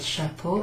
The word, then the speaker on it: chapeau: Oh, look, we just had the word chapeau, and here we have a C and an H. So, C and an H is pronounced sh.